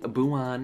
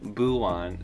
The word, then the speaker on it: Buwan: you feel uh one pardon me for saying abu on in the beginning but that is how i boo one but one is much prettier than buwan so i apologize for the mispronunciation and i